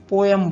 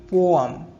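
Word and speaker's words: poem: Next word है कविता, जिसको हम पोयम बोलते हैं, तो ये पोयम नहीं होता है। उसका सही प्रोनाउंसिएशन है पोअम। पोअम।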